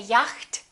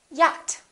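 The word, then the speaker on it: yacht: doubt another common mistake the silent ch we don't say yakt we say yat okay silent d adjust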